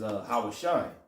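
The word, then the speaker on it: הושע: Hosea, how you say it in the Hebrew, is Hawashai, which means deliverer. See?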